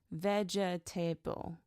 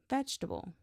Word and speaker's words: vegetable: When he said vegetable, he pronounced it every syllable. Vegetable. But natives say vegetable.